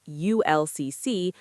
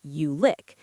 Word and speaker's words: ULCC: Ultra-low-cost carrier, also a ULCC, pronounced either as individual letters ULCC or sometimes as ULIC.